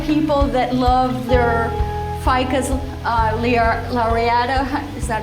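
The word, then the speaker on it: lyrata: All the people that love their ficus lariata, is that how you say it? Yeah, lariata.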